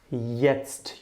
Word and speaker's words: jetzt: Now there's a jet passing by, and that's just a mnemonic, of course, for now. Jetzt, jetzt, you pronounce it jetzt.